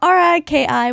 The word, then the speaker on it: Riki: Also, Kaffy has been in Japan for too long, and R-I-K-I would be pronounced more like Riki.